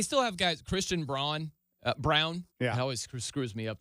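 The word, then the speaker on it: Braun: have guys Christian braa Brown that always screws me up the way well spelled like Brun spelled like Brun but it's brown um he's a starter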